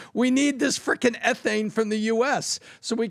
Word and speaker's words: ethane: Not ethane, it's ethane. It was U.S.